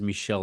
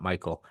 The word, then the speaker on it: Michel: And just so we're clear, my name is Michelle, not Michael. I usually have to tell people this. I Um, yeah, so I usually start off with that because it's spelled like Michael, and often people call me Michael, but it's Michel.